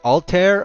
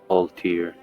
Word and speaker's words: Altir: Is it Altair or is it Altir? Altir.